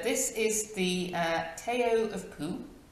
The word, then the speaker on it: Pu: Poo, by the way, is pronounced sort of like poo, but without so much oo, like the sound you